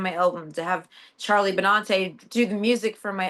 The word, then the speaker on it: Benante: So, it's Bonante and I've been saying Bonanti. Like, I say it like a Long Islander.